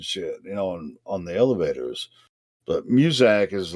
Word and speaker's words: Muzak: Muzak.